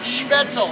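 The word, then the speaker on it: Spoetzl: coming to the k schmetzel brewery and it's pronounced schmetzel s-c-h-p does anybody know what schmitzel means don't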